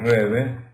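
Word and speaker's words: Rebbe: Que en Yiddish nosotros decimos Rebe, pero se escribe Rabbi.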